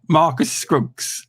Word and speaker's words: Marcus Scruggs: Marcus Scruggs.